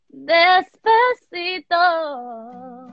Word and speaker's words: Despacito: Despacito.